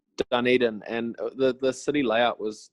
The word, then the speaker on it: Dunedin: I had to look up how to say it because I was gonna say Dunedin, and I'm Yeah, glad. no, it's Dunedin, and the city layout